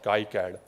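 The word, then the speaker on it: KiCad: came across this tool which is called key CAD uh you can pronounce it that kead or Kai ad okay uh this is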